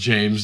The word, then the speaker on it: Jaimes: Like it's just pronounced James. Yeah. So don't think of it as a Mexican name.